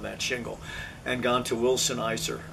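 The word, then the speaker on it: Wilson Elser: shingle and gone to Wilson Eiser I think it's pronounced he had the board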